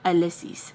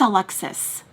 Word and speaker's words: Alexis: to say my name, they want to say Alyss. It's Alexis.